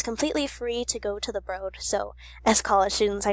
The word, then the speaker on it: The Broad: it just recently opened in 2015 it's commonly mispronounced as the broad but it's actually the broad because it's named after Mr and Mrs broad